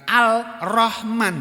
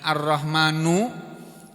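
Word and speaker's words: الرحمن: Alnya, L-nya, bunyi L-nya, L-nya hilang, bunyi lamnya hilang. Bukan Al-Rahman, bukan Ar-Rahman, kan gitu. Jadi di sini ada huruf roknya double. Roh, ini anunya apa? Huruf rohnya ini mati disukun. Gitu. Ar-Rahman. Ini kan bacanya panjang.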